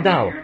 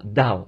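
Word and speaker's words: Daugh: tente, j'ai dit, frère Dow, est-ce que vous m'entendez? Il a levé les yeux vers moi. C'est un Allemand, et à vrai dire, son nom c'est D-A-U-G-H. Mais moi, je le prononce simplement Dow, vous voyez.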